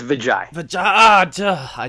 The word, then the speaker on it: Vijoy: Did I say it right? It's Vijoy.